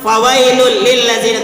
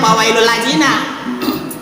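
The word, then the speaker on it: فويل للذين: Lu bilang fawailul lil ladzina, tapi lu membacanya fawailul ladzina. Fawailul ladzina dari mana lu dapat?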